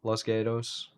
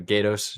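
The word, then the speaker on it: Los Gatos: They're uh Los Gados, California. Sorry if I pronounced it wrong. Anybody from California say that wrong? Loscelados. No, Gatos. G A T O S. I said it very gringo.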